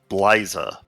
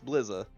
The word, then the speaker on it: Bliza: s ucks it's like a lot of people think my name is blyza yeah I've I corrected myself yeah no there's no I finally fixed it it's blizza I finally say oh yeah I'm saying it right it took me three